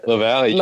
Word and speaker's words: LaVallee: grateful that you joined us everyone Bob loved Lavallee or how did you pronounce it Valley Valley okay and so grateful to have you